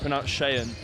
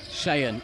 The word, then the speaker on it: Shayan: Also appears we've been pronouncing Sean's name wrong the whole game. Pronounced Shayan. Shayan.